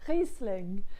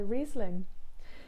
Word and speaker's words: Riesling: to do it in the proper french way i'll try and sound like my mum and you basically say reese sling and put them together so it's resling or if you want to say it in an english way just say riesling so you've kind of got the z and the s next to each other you can all practice